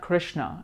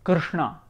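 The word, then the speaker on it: कृष्ण: here Karina Karina or Krishna right so it's not Krishna it's Krishna or Ganesha or Vishnu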